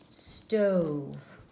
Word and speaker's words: stove: Cross off the E to show that E is a silent E. It does not make a sound.